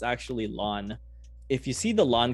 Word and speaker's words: ln: If you've ever noticed, it's actually ln. If you see the ln key on your keyboard, that's how you say it, right? LN.